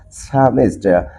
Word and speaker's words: psalmist: And according to the correct pronunciation, if P letter and S letter is used as like a starting letter, then the sounds of P letter must be silent. So, what is the correct pronunciation of this word, my dear learners? The correct pronunciation of this word will be SALMIST. Psalmist.